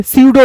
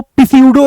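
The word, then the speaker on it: pseudo: आपने सुना होगा अक्सर सीडो डॉक्टर्स जोला छाप डॉक्टर सीडो लीडर्स टट पंजिया नेता ठीक है तो यह जो सीडो है ना सूडो सूडो यहां पे इसको पसो नहीं पढ़ते इसको पिसाइड जीी नहीं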